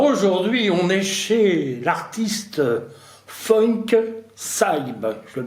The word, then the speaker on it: FunkSyb: Alors aujourd'hui, on est chez l'artiste Funk Saib. Je le prononce bien, Oui, ça va.